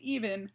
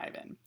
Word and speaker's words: Even: And by the way, it's Even, not Ivan. Okay.